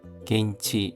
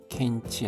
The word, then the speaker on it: 現地: 겨주가라 겐치 현지입니다. 켄치 아니라 겐치입니다.